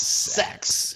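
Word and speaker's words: sechs: The number 6 is pronounced sex in German.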